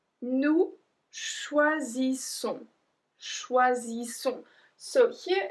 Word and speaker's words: choisissons: Nous choisissons, choisissons. So here it's a bit different because there's one S which makes the sound Z, and then we have two S which make the sound S. So choisissons, choisissons.